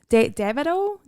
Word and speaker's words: Davido: Davido.